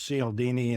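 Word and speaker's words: Cialdini: I've spent enormous amounts of time over this Christmas holiday studying a book called influence by I think it's sealini is how you say it.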